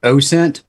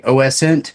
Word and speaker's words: OSINT: open source intelligence I I do subscribe to the train of thought that it is pronounced oh sent but I have heard people say oscent yeah because when I